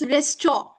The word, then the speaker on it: restaurant: It's resto. Restaurant. Yes, resto. Okay? Rent We don't pronounce the last part, rent.